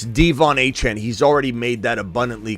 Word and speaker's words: De'Von Achane: uh uh Devon hen it's not Devon hen somersault it's devvon hen he's already made that